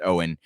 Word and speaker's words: Eoin: names a little bit it's spelled weird e-i-o-n pronounced owen higgins go find him